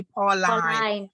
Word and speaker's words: Pauline: how how is pronounced I pronounce it Pauline but it's okay to pronounce it Pauline either way but I usually say Paul line because I am in a straight line to in my journey